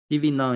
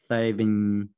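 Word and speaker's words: Thévenin: DV non is was a French. I put a English pronunciation. DV non is not Thevenin.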